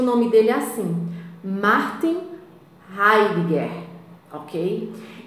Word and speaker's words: Heidegger: Se pronuncia o nome dele assim, Martin Heidegger, ok?